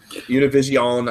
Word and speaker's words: Univision: And the fact that it's it's it's uh it's bought by uh Univision um Univision. Say it right. It's Univision.